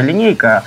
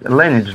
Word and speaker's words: Lineage: не просто легендарная, она в народе говорят, легендарная линейка, а правильно произносить, Lineage, да?